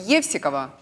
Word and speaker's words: Евсикова: Если можно, я боюсь ошибиться в ударении вашей фамилии — Евсикова.